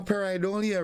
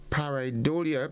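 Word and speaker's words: pareidolia: noun and it is a foreign and it is spelled p-a-r-e-i-d-o-l-i-a now paradolia refers so the tendency to perceive a specific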